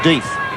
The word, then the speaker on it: Death: I think you pronounced that one Death.